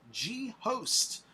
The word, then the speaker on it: G-Host: And next up on the lineup, we have G-Host. G-Host, we do have your song that you submitted. I think it's pronounced Ghost, but the way you wrote it says G-Host.